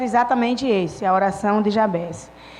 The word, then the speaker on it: Jabez: de jabá já bens alguns chama jabs mas a pronúncia mais correta é já bens e um certo tempo